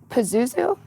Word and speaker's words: Pazuzu: love that that's so funny so you played Pazuzu am I saying it right yeah that you